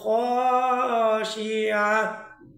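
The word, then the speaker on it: خاشعة: উজুহু ইয়াউমাইযিন খাশিয়া। পূর্বেরটা ছিল ইয়া আল গাশি ইয়াহ, আর এখন একটা হচ্ছে খাশি আহ, অর্থাৎ আগেরটা ছিল ইয়ার উচ্চারণ আর এখন একটা হচ্ছে আইনের উচ্চারণ।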